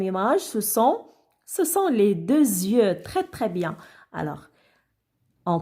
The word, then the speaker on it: yeux: Alors maintenant, le mot les yeux. Ben, regardez les enfants. Alors, X à la fin ne se prononce pas. Elle est muette. Les yeux, alors on ne peut pas dire les yeux X.